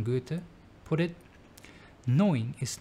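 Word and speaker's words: Goethe: German poet and scientist to apply German pronunciation Johann Wolfgang van Gutta put it knowing is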